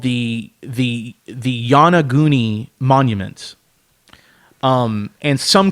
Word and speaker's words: Yonaguni: There is something called the Yanaguni Monument, and some call it a pyramid.